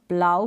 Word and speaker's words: plough: प्लाव का मतलब होता है हल, जो किसान के पास होता है वो हल, उसको इंग्लिश में हम प्लाव कहते हैं। तो इसका प्रोनाउंसिएशन है प्लाव, प्लाव।